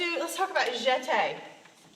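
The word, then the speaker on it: jeté: let's talk about it jet egg everyone says yeah hey that's what it looks like we're gonna accent over the e jet day means to jump so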